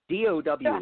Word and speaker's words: Tao: TAO is not Tao, people. DOW is Tao.